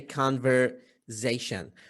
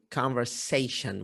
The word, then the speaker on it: conversation: So in Iraq, we tend to say conversation, but the correct pronunciation of this word is conversation with S. Conversation. It's not that. It's that. Never pronounced with Z.